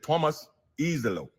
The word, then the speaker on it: Iisalo: head coach Thomas Eelo because the pronunciation says Thomas Eelo.